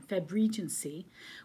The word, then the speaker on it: Febregency: febregency i was saying it wrong last time febregency which is the challenge to read uh regency